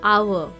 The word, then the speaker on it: hour: So we use the article N because though the word HOUR is a consonant letter H, but still we will use N because it sounds like hour, OUR, hour, but the spelling is HOUR.